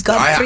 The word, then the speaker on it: Gottfried: It's Gottfried. I have the British version, but in German it's Gottfried.